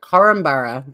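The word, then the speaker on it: Korumburra: it down I wrote well actually I wrote coromborough that was the pronunciation one of the locals said in one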